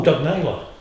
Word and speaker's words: Doug Naylor: Oh, Doug Naylor. Yeah, Right. sorry. If I pronounce it correctly, then you might know who I'm talking about. Doug Nile. I said Nyler, but Did he?